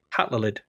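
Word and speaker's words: Hatlelid: It's Hat L E L I D. Hatlid.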